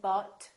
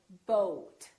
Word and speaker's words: boat: in road boat soap so don't say but say boat let's practice some more